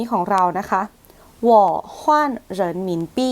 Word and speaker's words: 我换人民币: จะ อ่าน ว่า ว ฮน เิน หมิ ปี้ หว่อ ฮน เหิน หมิ ปี้ อ่ะ วอ ตัว เดียว เลย จะ แปล ว่า